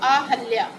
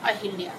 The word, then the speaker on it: अहिल्या: आगे है आहल्या। आहल्या, और जबकि शुद्ध जो उच्चारण है वो है अहिल्या।